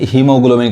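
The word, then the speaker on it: haemoglobin: देखिए अब ये है हीमोग्लोबिन का बहुत मैक्सिमम लोगों को इसका स्पेलिंग में कंफ्यूजन होता होगा देख यहां पे ए ही आ रहा है तो यानी ये ए नहीं पढ़ाए हीमोग्लोबिन समझ में आ रहा इसको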